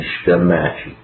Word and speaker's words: Shitamachi: Okay, you gotta get your Japanese pronunciations correct. Yamanote and Shitamachi.